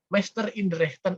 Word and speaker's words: Meister in Rechten: MR-nya bacanya bukan Mister ya, tapi Meister in Rechten Ahmad Subarjo.